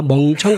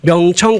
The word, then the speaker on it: 명청: 발음 잘해야 됩니다. 멍청 갈등이 아니고 명청 갈등입니다.